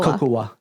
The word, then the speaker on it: Cocowh: Cocoa. Okay. Okay. How do you spell it?